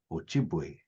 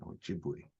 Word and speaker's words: Ojibwe: And when you hear the word pronounced, sometimes people that don't have a good ear won't hear the O.